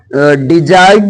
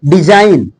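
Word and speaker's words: design: होता है क्लियर है यदि जी के बाद एन आए तब वहां जी साइलेंट रहेगा क्लियर जैसे यहां डिजाइन कभी आप अ डिजाइन बोले हो नहीं डिजाइन डिजाइन डिजाइन या ज ज ज का सेंस आएगा फिर से सुनो डिजाइन मींस बनावट कैंपेन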